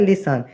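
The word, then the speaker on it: listen: जैसे पहला शब्द है लिसन इसमें साइलेंट है टी क्योंकि इसमें टी की आवाज नहीं आती है यह है थम थम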